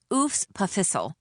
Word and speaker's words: EWS PFHSL: As if the EWS PFHSL, pronounced oos pissle was some kind of parasite living in the belly of this great center of learning.